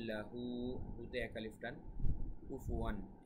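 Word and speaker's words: كُفُوًا: ওয়া লাম ইয়াকুল লাহু, হুতে এক আলিফ টান, কুফুয়ান এখানে কুফুয়ান এখানে ইজহার হবে, কেননা দুই জবর বা তানউইনের পরে ইজহারের হরফ হামজা বা আলিফ এসেছে।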